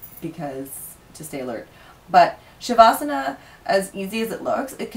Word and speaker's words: Shavasana: Somebody online said their favorite is, and I don't think I got the spelling or the pronunciation right, Shavasana? Shavasana. Yes.